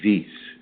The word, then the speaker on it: Vis: So I think it's pronounced Vis, V-I-S, Vis.